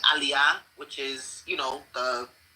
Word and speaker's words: aliyah: there are certain words everybody knows how to pronounce. So instead of saying aliyah, which is, you know, the naturalization process in Israel, she kept saying, uh, what did she say? Allayia.